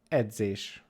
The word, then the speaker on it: edzés: So this is pronounced as you would just try to pronounce a D and a Z together.